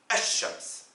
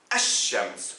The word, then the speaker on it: الشمس: Si le mot shams a un L, on le prononce ash-shams. On appuie sur la première lettre en disant ash-shams.